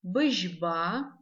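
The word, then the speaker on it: быжьба: Быжба. Быжба. Звук ж. Пишем его как ж, мягкий знак. Быжба. Звук и не читаем, как в русском языке, твердо быжба. Так никто не говорит на абазинском языке.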